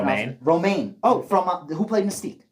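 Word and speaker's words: Romijn: I'm sorry, I don't know how to pronounce Romaine. it. Romaine.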